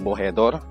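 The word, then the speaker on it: Bojeador: Sa mga naghahanap ng tamang pronunciation ng lugar na to, it's Cape Bohedor.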